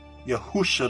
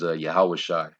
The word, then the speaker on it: Yahushai: That's not the true pronunciation. His name is Yahushai. All right, Yahushai is the correct pronunciation of his name.